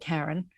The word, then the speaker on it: Karen: I was at school with 5 Karens, and I still have many best friends that are called Karen, but Karen is the way I say it.